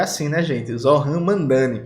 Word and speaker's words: Zohran Mamdani: lá de Nova York, que é para não pronunciar o nome dele errado, o Zohran Mamdani. Acho que é assim, né, gente? Zohran Mamdani.